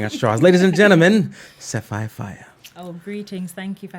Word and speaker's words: Sefiphiah: I hope I'm pronouncing your name right. Sefiphiah? Yeah.